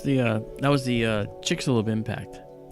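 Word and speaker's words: Chicxulub: no I'm saying it wrong chick it's it's pronounced chickalo it's chickalo okay chielo yeah chickalo um found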